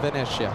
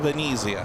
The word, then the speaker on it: Venezia: South of Venetia. South of Venezia.